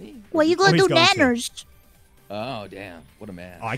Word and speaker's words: Nyanners: It's Nyanners. Yeah. What were you pronouncing before? Everybody was yelling Nainers?